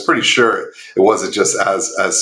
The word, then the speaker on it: Énska: company is ah so the the of Western pronunciation is Ena um but the correct Mohawk pronun pronunciation is Asa um and it's the Mohawk word for one